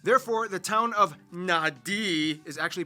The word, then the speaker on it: Nadi: makes the th sound, D makes the nd sound, B makes the mb sound. Both Q and G make the ng sound. Therefore, the town of Nadi is actually pronounced Nandi.